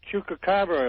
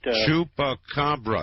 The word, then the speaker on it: chupacabra: Uh one thing about the uh Chuka, if I'm pronouncing that right, Chupacabra, sir. Say it. Say it. Say let me hear you. Chupacabra.